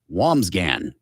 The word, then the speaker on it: Wambsgans: And it's spelled Wambsgans. The name is Wamsgan. Okay.